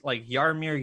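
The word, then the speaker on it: Jaromír: I was like, "Okay, tell him this is how they pronounce this, Yarmir Yager, that. It's not Jerome or Jagger.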